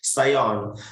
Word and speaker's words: scion: Scion, we used to pronounce as a scion.